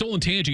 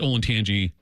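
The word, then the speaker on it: Olentangy: wish it wasn't it's ol and Tangi it's ol and Tangi Berlin but I wish it was a different School playing Berlin because I could just say ol and Tangi but now you have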